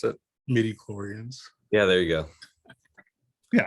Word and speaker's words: midi-chlorians: The Metachlorians or whatever, however you pronounce it? Midi-chlorians.